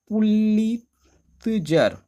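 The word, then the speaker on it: Pulitzer: बहुत सारे लोग प्रोनाउंसिएशन से दिक्कत होगी उनको। इसका नाम है साथियों पुलिजर।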